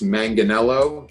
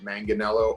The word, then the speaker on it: Manganiello: It's Manganiello, as long as you hit the hard G, Manganiello or, Manganiello, as if you are going to talk dirty about me in Italy.